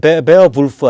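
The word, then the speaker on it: Beowulf: 베어울프도 베어불프 아니에요. 베어불프. 뭐 읽기를 우리가 베어울프라고 읽죠.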